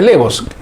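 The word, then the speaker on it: laevus: Se escribe la evos, pero es levos. Se pronuncia levos.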